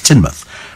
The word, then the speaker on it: Teignmouth: It's spelt Tynemouth, but it's Teignmouth.